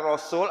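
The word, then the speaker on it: رسول: Rusulun atau rasul kayaknya masih sama aja. Nah, saya berharap mulai hari ini mudah-mudahan kita sudah bisa bedakan. Kalau rohnya fathah, pasti sunya pakai waw.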